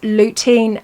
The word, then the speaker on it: lutein: They are hard to spell, so we will type them up after, but they're pronounced lutein and xanthine.